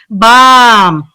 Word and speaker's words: bomb: We saw that unfortunately, bomb, comb, tomb. These are 3 different vocabularies with 3 different vowel sounds.